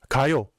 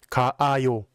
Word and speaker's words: 가요: Since the 아 in the ending is absorbed by the vowel in the verb stem, it just becomes 가요, not 가아요.